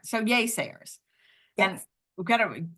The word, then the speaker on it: Yaysayers: so all right so yay Sayers and we gotta it's pronounced yay y a y Sayers so many people about this and they're like gayers way Sayers like what are you